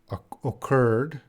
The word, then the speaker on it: occurred: sentence career with grace occurred awkward please pronounce pronounce these words o curd awkward occurred occurred occurred oh that's a difficult one occurred